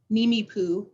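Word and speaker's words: Nimiipuu: danae and hopi um neemi poo is how you say it and uh my dog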